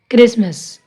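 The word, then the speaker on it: Christmas: Fasten, listen, Gleason, often, क्रिसमस, अब इसमें भी टी साइलेंट होएगा।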